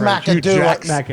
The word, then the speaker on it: McAdoo: I think you gave it 4 syllables. I think it's only 3.